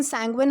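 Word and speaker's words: sanguine: सैंगुइन, okay, इसका pronunciation सैंगुइन होता है, ये ध्यान रखना है।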